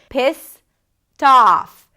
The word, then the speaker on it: pissed off: The ED is actually pronounced as a T, pissed.